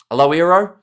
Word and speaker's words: Loiero: Loiero, says Vic there for the pronunciation.